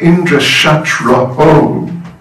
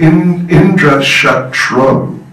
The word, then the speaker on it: Indra Shatraho: Notice the aho, Shatraho, the priest mispronounced by one syllable. Instead of Indra Shatraho, he said Indra Shatro, that Indra will be his enemy.